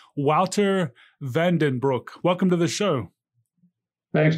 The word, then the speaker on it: Wouter Van den Broek: going to ask him to re-say his name, Wouter Vandenbroek. Welcome to the show. Thanks, Nader. I think it's almost good, so it's Wouter Vandenbroek.